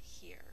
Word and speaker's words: here: And that here we're going to think to spell E-R, and there's a silent E that makes this E long. So the here is in the place we're going to spell out loud. Here, H-E-R-E. Good job. And we're going to mark it like this. That E is silent, but it's making the E say its second sound.